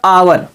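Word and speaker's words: hour: लिखा है वह गलत है दोस्तों क्या होगा अवर ह ओ यू आर मेंस होता है घंटे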